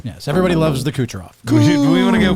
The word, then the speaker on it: Kucherov: Nikita Kershaw. Oh, that was very close, but So that's close, wrong. but no. That was Kucherov. Kucherov. It is Kucherov. Yes, everybody loves the Kucherov.